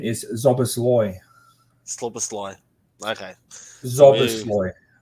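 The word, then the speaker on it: Szoboszlai: Thomas has come in with the pronunciation is Zobosloy. Slobosly. Okay. So we Zobosloy. So Zobosly. if anybody didn't know, um, that's how you say it.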